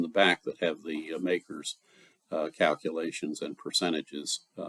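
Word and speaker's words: MACRS: tax the depreciation using makers m-a-c-r-s the modified accelerated cost recovery system which is pronounced makers by tax accountants and as a tax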